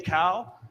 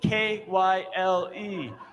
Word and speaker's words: Kyle: really heavy guy and people would say hey cow it's a map of the world i'm just going to say that the map of the world then i walked up to his desk and saw his name plate and said k-y-l-e oh kyle the long eye it all made sense then the thing to